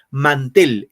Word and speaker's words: mantel: Mantel, ¿en man o en tel va la mayor fuerza de voz? Tel, profesor. Tel, muy bien, tel.